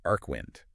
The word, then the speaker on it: Archwynd: It's Archwynd, and it's pronounced Arcwind.